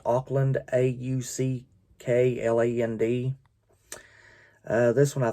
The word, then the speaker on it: Auckland: root would have been sydney i think it's pronounced auckland a-u-c-k-l-a-n-d uh this one i think is pronounced